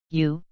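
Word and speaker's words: 유: this character is y-you you sounds like the word you next is ye the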